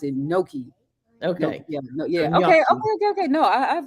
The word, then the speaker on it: gnocchi: ones but g-n-o-c-c eyes oh okay okay it's pronounced like NY nyaki okay see that's why I didn't recognize okay because I pronounce it gnocchi okay yeah yeah okay okay so we're gonna